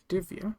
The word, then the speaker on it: Divia: Divia. Divia. That's how you pronounce that.